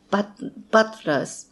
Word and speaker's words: butlers: Butlers. A butler. ですね、この butlers。t と l がひっついた音っていうのは非常に難しいですね。t と l は、t は弾く音で l はどっちかというと止める音ですね。butlers。で、下の位置って同じところにあるんですね。なので非常に難しいです。一緒に発音するのは。